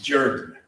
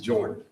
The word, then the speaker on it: Jordan: Many of you know about Clarence Jordan, and in Georgia, they pronounce it Jordan. They do not pronounce it Jordan.